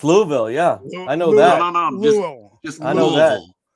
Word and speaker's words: Louisville: you're in Kentucky it's Louisville it's Louisville yeah I know that just Lille I have no s in there at all you don't Lord help